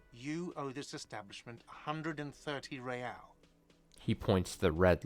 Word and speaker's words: Real: You owe me 130 real. Uh-oh. What's real? Oh, excuse me. You owe me 130 real. He pronounces the R with a mock aristocratic accent.